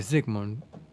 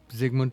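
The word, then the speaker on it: Zygmunt: instead of a v uh zigmund is spelled z y g m u n t yeah sure but Zigman yeah Zigman to me anyway exactly uh I think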